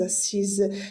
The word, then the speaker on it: assise: Le E va être attaché avec le s et ça va prononcer je me suis assise.